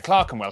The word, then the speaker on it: Clerkenwell: ER is pronounced R. Berkshire, Clerkenwell, Hertfordshire.